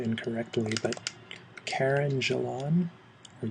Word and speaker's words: Gillan: I was introduced to the actress, and I may be pronouncing her name incorrectly, but Karen Gillan, or Gillan. It looks like Jillian, but it doesn't have a second eye.